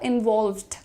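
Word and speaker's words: involved: Pronunciation कैसे ठीक करेंगे इसका? इनवॉल्व्ड। इनवॉल्व्ड। एल और वी का ब्लेंडिंग है यहां पर। इनवॉल्व्ड। ल पे तुरंत वर्का।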